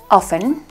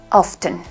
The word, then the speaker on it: often: son correctas hacen que se puede pronunciar con una p silenciosa off en austin pero también puedes decir la pronunciando la t externa often por ejemplo hay dos